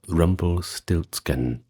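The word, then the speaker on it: Rumpelstiltskin: Well, then we have Rumble Stiltsken, which is pronounced pretty much the same in German.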